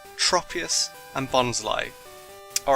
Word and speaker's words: Bonsly: finally know how to correctly say tropus and bonsly all right next let's look look at a